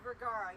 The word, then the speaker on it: Vergara: chat, her name is Sofia Vergara. Vergara, yeah.